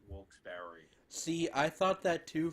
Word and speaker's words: Wilkes-Barre: It's Wilkes-Barre. Well, people actually around there, if I'm not mistaken, like in Wilkes-Barre, pronounce it Wilkes-Barre.